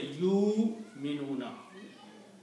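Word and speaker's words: يؤمنون: So you don't pronounce wow. You don't say yu'minuna. You say yu'minuna. Pronounce hamza only. Yu'minuna. Do not pronounce wow.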